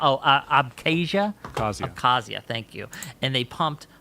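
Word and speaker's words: Abkhazia: They put and they took an intering conflict that was in South Oessia and um I can't pronounce oh abcasia thank you and they pumped money into them.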